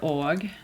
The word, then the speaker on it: og: When it comes to the word og, you don't say it.